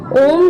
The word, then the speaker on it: ओम: शिव का वाचक है ओम का उच्चारण करते समय अ की धवनी का त्याग हृदय में और ओम की उ की ध्वनि का त्याग कंठ में और म की धवनी का त्याग तालू मध्य में किया जाता है तो अगर ओम